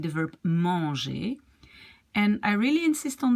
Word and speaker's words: manger: So it's manger. It's not manger. You don't say the N, okay?